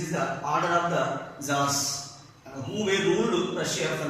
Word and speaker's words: Tsar: They were popularly known as T is the silent here. Tsars. Tsar is the pronunciation. The pronunciation is Tsars.